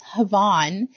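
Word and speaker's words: hafn: pattern is called ha it's havon but it's spelled h a f n it is a Welsh word all right I'm running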